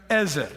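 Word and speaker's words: עֵזֶר: Es la palabra Ez erer. Diga conmigo, ezer. Es como Z, pero los judíos pronuncian así las cosas, medio rarongo.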